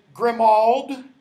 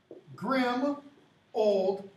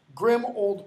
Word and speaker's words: Grimmauld: ul D plays so a lot of people say Grimmauld but it's pronounced grim old plates grim old place doesn't that describe